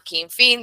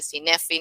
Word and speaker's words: Cynefin: Hay algo que se llama Kinfin, no se dice Cinefin, no se dice Synefin, se dice Kinfin, es una palabra galesa que representa todo lo